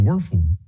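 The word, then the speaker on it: Wuerffel: The Werfel.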